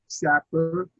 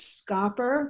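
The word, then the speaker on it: Schaper: i do uh proudly correct the pronunciation of my name as scopper because it's holland dutch and i think if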